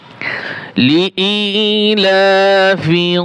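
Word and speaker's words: لِإِيلَافِ: লিইলাফি কুরাইশ। লাম জের লি, হামজা ইয়া জের ই, এক আলিফ টান হবে।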